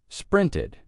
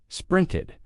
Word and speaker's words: sprinted: You could think of it like a short I sound plus a d or the schwa sound plus d sprinted sprinted.